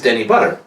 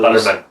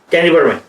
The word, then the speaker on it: Butterman: He's Danny Butter. Yeah. Danny Butter is one of those... Butterman. See, Sig even said it right there. Sorry. Butterman. That's alright. Butterman. Danny Butterman.